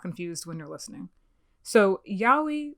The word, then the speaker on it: yaoi: when you're listening so yaoi which looks like yay oh i which is how i pronounced it for a while because